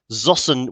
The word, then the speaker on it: Zossen: museums served services uh oh apparently zosan is pronounced zoson with a t thank you hamish um and